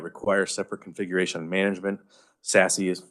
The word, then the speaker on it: SASE: And instead of layering services that require separate configuration and management, SASE that's how you pronounce it if you ever want to pronounce it. It's fun to say, SASE.